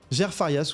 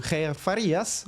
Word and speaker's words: Jair Farias: Jair Farias ou Jair Farias, vous le prononcerez comme vous voulez, un palmarès de 10-1 et sur une défaite en 2023 lors des Dana White Contender Series.